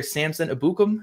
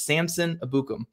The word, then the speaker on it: Samson Ebukam: their next guy here Samson abukum and that is how you say his name I heard him say it now it's Samson abukum abukum okay we got